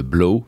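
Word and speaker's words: 3LAU: un DJ aux États-Unis qui s'appelle blow ça s'écrit 3 le chiffre 3 est Lau euh qui lui en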